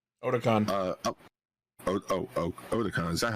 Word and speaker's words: Otakon: All right, Discotek gave us some good shit this year at Otaku-fan. Otakon. Otakon. Is that how you pronounce it?